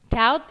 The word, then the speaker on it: doubt: Doubt ini cara bacanya huruf B-nya dihilangi ya, doubt. Jadi bacanya kayak D-A-U-T, doubt.